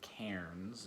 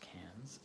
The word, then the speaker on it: Cairns: So for our first trip, our first 2 weeks off, we went to Cairns, or Cairns if you're in North America, but it's pronounced Cairns.